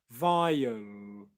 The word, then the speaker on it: vile: dark L, is the tip of the tongue is touching the roof of the mouth, but then the rest of the tongue is higher up in the mouth. Vile, vile, vile, compared to vial, vial, which is how it would be if I wasn't doing a dark L.